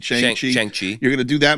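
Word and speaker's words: Shang-Chi: But they must have been signed to things like, "All right, you're going to do your Changi movie." Did I say his name right? Shang Chi.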